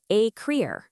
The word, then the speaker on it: écrire: That's pronounced écrire, and it means to write.